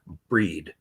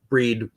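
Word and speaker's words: Brigid: festival and that is the time of breed breed we spell it as Bridget but breed one of the most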